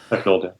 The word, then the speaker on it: Pecknold: and how Robin Pecknold, is that how you pronounce his name? Last name? Yeah. Pecknold, yeah.